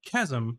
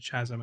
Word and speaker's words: chasm: and I'm I'm self-conscious I don't know how to say as a word anymore because I said it wrong Chasm I think in the past I said Chasm and that's not the right way yeah but Chasm yeah